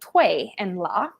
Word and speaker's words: Tui: ocean and in the show they are called tui and la um the correct pronunciation would be tui which means to push and pull and we